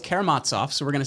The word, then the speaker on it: Karamazov: We did the Brothers Karamazov recently, and the professor corrected me because I totally butchered the name. I was like, Karamazov.